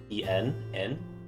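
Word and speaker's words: 円: and then n unlike how we say how we refer to japanese money as yen they just pronounced it as just en and here since he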